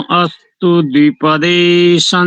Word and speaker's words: अस्तु द्विपदे: अस्तु द्विपदे, अस्तु द्विपदे अलग अलग आना चाहिए।